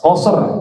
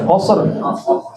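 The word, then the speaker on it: قصر: Kalau dua namanya qasar. Qasar bukan qasar. Qasr.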